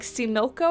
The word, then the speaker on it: Xochimilco: It's like Similco or something like that. Basin, but it's spelled with an X. It's Xochimilco.